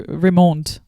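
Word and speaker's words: Raymonde: Raymond. Well, if you if you pronounce it in the French way, Ramond.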